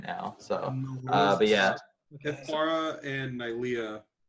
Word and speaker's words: Miletus: Is this what is the legal drinking age in Miletus? Oh, real quick, me and Coleman took a quiz on how to pronounce things. Oh yeah. Oh, Yes. It is Miletus.